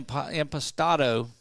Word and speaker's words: Impastato: But congratulations go out to Taylor Allen and Mia Impastato. And I asked her how we pronounce it. She said, just like that.